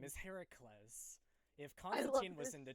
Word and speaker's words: Heracles: right now thanks yeah here are clothes isn't that really it's heracles oh it's heracles yeah if concerts i